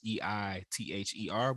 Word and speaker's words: Either: That's EITHER. We didn't spell it wrong. The I is silent.